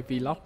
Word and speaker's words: vlog: Có đi du lịch đâu anh nhớ quay vlog. Cái chữ đó đọc là vlog nha các bạn.